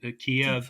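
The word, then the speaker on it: Kyiv: them that spell out Kiev and ke ke I'm sorry yeah we that that's the Ukrainian pronunciation it's the one syllable pronunciation Kia is apparently the Russian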